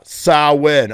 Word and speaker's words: Samhain: oh my god yeah saw win okay that's how you pronounce samhain i'm sorry if any